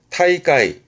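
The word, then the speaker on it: 大会: 대회 발음은 타이까이 타이까이 위에 것들은 말입니다. 위에 단어들은 땡땡부터 다이가 끄다이즈처럼 쓰여졌다. 그러면 지금부터는 땡땡이 없어요. 발음이 세게 됩니다. 타이까이 타이까이 대회 타이까이처럼 타이로 발음되어지는 케이스도 많습니다.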